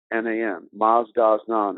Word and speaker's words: Mazdaznan: of canada currently is publishing that book and it's spelled m-a-z-d-a-z-n-a-n maz-daz-naam and what that means maastros done means master